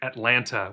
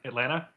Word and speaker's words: Atlanta: If you're a younger person from Georgia, you're going to go with Atlanta. Second T drops. And if you're an older person from Georgia, it's Atlanta.